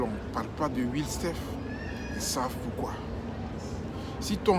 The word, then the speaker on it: Willstephe: nom sort de votre sujet, avant de te prononcer dessus, remue 7 fois la langue. Parce que c'est Will Sef.